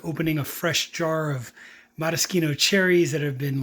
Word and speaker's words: Maraschino: Maraschino. That is the correct Italian way of pronouncing Maraschino cherries.